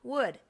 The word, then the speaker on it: would: Would. Where does the L come from?